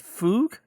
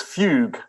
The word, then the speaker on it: Fugue: Is it fug? It's fugue. Uh as in the type of music that uh uh Mr. Bach uh wrote a lot of.